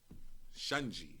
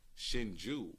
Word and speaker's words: Shinju: This is a Japanese whiskey, Shunji. You know what I mean? This is the new thing going on right now. Shinju. So it look like S-I-N. Shinju. La is right. Lock up pronounced.